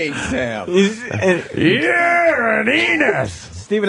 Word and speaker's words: Enos: Enos rhymes with Venus. Yes, it does. You thought I was going to say something else, right? That Enos was going to rhyme with genius, but we know you're